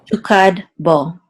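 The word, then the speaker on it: תוקד בו: So this is tu. This is a kuf with a patach, so this says ka, and then the dalid will close the syllable out to say kad, tukad, and then a bet with a cholam vav, which says o, says bo, tukad bo.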